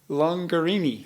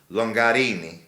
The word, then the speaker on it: Longarini: I always tell people rhymes with Lamborghini. And it does. Yeah. Longarini.